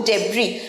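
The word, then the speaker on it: debris: পড়ে থাকে সেটাকে বলবো ডেব্রি লাস্টে এস থাকা সত্ত্বেও এস কিন্তু উচ্চারণ হয় না নয় মিউনিসিপাল কর্পোরেশন ক্লিনিং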